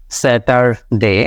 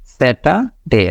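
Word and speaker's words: Saturday: কেমন এখানে উচ্চারণ হচ্ছে আপনি আর এর উচ্চারণটা বাদ দিয়ে দেন স্যাটা স্যাটাডে স্যাটারডে স্যাটারডে এভাবে কিন্তু আপনার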